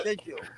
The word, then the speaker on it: schedule: Schedule. Do the Loki. Sorry. Look at Schedule. Schedule. No, it's pronounced schedule.